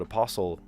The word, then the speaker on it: apostle: Um, yeah, but apostle absolutely. In other language, you do pronounce the T.